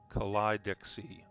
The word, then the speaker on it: Kaleidoxe: I have actually gotten, it's pronounced Kaleidoxe. All right, hard K.